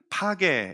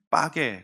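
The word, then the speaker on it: פגה: 맺어요 어 그것을 이제 히브리어로 바쿠라 혹은 파게 이렇게 기 약간 빠게 발음이 좀 거친데 빠게 근데 이게 이제에 어 헬라어와 라틴어와 이렇게 거치면 영어로 걸 어 바뀔 때는 이제 피그이라고 이렇게 되는데 그 원래이 발음 이제 파게라 합니다 어린 무아가 나무예요 근데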